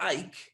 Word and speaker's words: Ike: eisenhower you see an advert for ike which literally would rhyme with bike because that's the kind